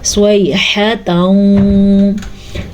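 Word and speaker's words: صيحة: ہا کے تلفظ کا دھیان رکھنا ہے کیونکہ ہا ہے, ہا بھی نہیں ہے اور خا بھی نہیں ہے. صیحۃ.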